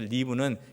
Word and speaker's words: live: 여기서 live는 긴 발음이 아니고 짧은 발음, live, 살아라, 찾고 살아라.